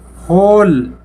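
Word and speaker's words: whole: होल, W silent है।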